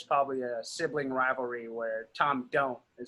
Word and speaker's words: Tamdhu: cloud distillers hunter lang before it's pronounced Tom do Tom do Tom do